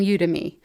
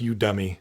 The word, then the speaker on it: Udemy: udemy udaimi i don't i think it's like academy but for you you you to me but it sounds like you dummy here we're going to